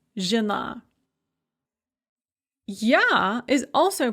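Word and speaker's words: жена: Or žena, žony, that yo in žony, when it is not stressed, becomes a yeah, and that yeah is pronounced as an e, žena.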